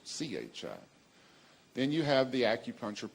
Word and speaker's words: Qi: the acupuncture system and it's spelled Qi and it sounds Chi then you have the